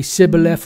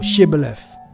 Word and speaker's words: Shibboleth: They would kill those Ephraimites that couldn't pronounce the word properly. Okay, Sibboleth or Shibboleth.